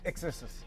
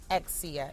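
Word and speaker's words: Charli XCX: that or is it exist do you pronounce it or do you say the letters I I believe it's XCX X okay I don't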